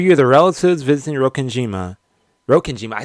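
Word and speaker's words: Rokkenjima: And for you, the relatives visiting Rokenima, Rokenima, I said it right.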